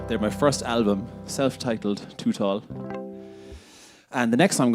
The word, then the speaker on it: Tootawl: kind um I should say by the way to tall is my name and that's spelled t o o t a WL t